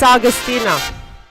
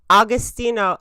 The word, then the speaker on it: Austino: some austino it's austino make sure this is loud and clear so Kevin Brenan was a little bit easier to deal with austino you guys can you